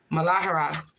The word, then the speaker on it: Muladhara: The root chakra is how you pronounce it. Hindu is Muladhara in Hindu.